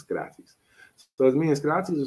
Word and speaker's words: Socrates: It's not Socrates, it's Skaratis.